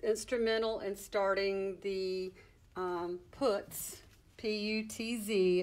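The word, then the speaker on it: Putz: in starting the put PU TV it's pronounced put like the word put with a s on the end and they still do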